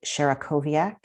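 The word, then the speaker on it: Sierakowiak: who wrote it had a very difficult to pronounce last name his name is david sharakoviak s-i-e-r-a-k-o-w-i-a-k he's a number seven and eight in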